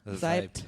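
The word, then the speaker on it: Seibt: Zeibt.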